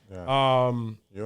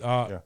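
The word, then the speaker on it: Yeun: But Stephen Yuen, or is that how he pronounces it? Yun? Yun. Yun. Yeah, he's Yun.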